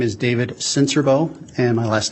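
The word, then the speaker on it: Sincerbeaux: spell your last name my name is David senserbo and my last name is spelled s-i-n-c-e-r-b-e-a-u-x sir how are you employed currently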